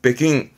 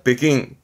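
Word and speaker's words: 北京: 참고적인 사항이에요 요거 북경이 중국에서도 베이징을 말하는 일본에서이 발음을 베킹 이때는 킹 발음입니다 베킹 베킹 이걸 언급하는 이유는 간혹 요런게 보이 있습니다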